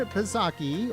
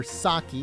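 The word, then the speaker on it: Psaki: this year so Jen pizaki or saki how some people are telling me that the p is silent um is said to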